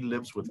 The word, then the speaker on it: lives with: Ajá, es como si ese sonido es la Z y se combina con la W o la W.